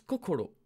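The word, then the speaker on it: こころ: qu'au colo colo colo le coeur ça se prononce kokolo ensuite ça c'est le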